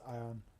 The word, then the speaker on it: iron: I'm never going to remember that it's pronounced iron.